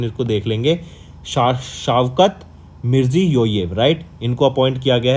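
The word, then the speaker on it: Shavkat Mirziyoyev: थोड़ी सी प्रोनाउंसिएशन इसको देख लेंगे, शावकत मिर्जियोयेव, राइट।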